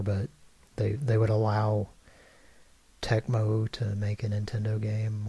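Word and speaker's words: Tecmo: never played it at well you mispronounced it did you say techno I'm sorry to disappoint you techmo techno techmo I always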